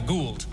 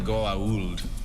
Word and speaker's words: Goa'uld: I was like, well, I called them the Gould, but they were like the Goa'uld.